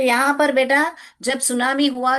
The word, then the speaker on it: tsunami: तो अभी उस टाइम में मुझे भी मालूम नहीं था सुनामी क्या होता है, तो हमने उसको सुनामी टी भी हमने साइलेंट नहीं पढ़ा था, एनसाइक्लोपीडिया था घर में, मैं रोज बच्चों के लिए पढ़ती थी।